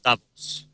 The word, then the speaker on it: Davos: official badge that gets you into things at Davos.